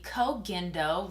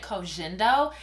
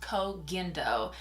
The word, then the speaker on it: Koh Gen Do: I'm going to be going in with the COAG indo which I cannot believe that I've been saying that wrong I normally say Co jindo and I recently found out that it is pronounced COAG endo and this is one of my favorite absolute